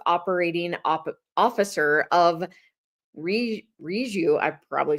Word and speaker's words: Reju: definitely said it right it is reu it's um short for rejuvenate so that could always keep you aligned on how to say it ah perfect I was